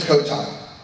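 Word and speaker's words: Cotai: I pronounce it Kotai.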